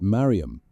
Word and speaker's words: Maryam: Not Maria, the Hellenized form John had used in the previous verses, but Maryam, the Hebrew form, the Aramaic, the form she had heard a thousand times from his lips.